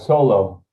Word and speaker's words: Solo: how do i pronounce it's a solo solo okay like star wars thank you yeah welcome